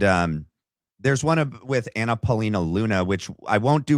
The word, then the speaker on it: Anna Paulina Luna: Is it not Anna Paulina Luna? Is it Anna? Anna Paulina Luna. Okay, it is.